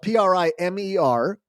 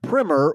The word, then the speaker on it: primer: The word that is spelled P R I M E R can be pronounced two ways. with a short eye like primmer when referring to an introductory book or topic.